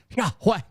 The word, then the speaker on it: Yahweh: even saying it WR it's Yahweh it sounds like you're exhausted running from someone and from a monster and you're trying to to describe the hallway okay that's how you say it when his son Jesus